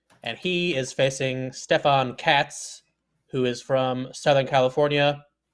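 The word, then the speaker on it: Kac: I I think I I pronounced his name as Kats probably you know like two dozen times but you have you have taught me that k a c apparently equals Kats um, which is quite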